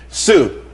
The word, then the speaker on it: TSU: Sue, TSU, it's pronounced Sue though.